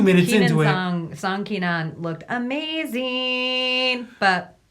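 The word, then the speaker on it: Song Kenan: Apparently, Keenan Song's name is Song Keenan, is the way it's pronounced, but they got it wrong on the passport.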